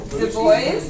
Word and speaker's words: Du Bois: In fact, if you actually listen to any African American scholar on the matter, they all pronounce his name Du Bois.